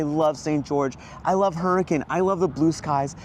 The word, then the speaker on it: Hurricane: so the Elephant Room first it's it is pronounced hurricane even though it's spelled hurricane yeah it's just